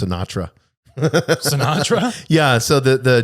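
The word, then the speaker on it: CNATRA: that it was pronounced sinatra sinatra yeah so the the general um robert westendorf uh rear admiral robert westendorf it's called chief of naval air training c-n-a-t-r-a and it's pronounced sinatra oh my god that's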